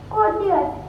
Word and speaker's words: courteous: Today's the commonly mispronounced word for the day is C-O-U-R-T-E-O-U-S. It is commonly mispronounced as courteous, but its correct pronunciation is courteous.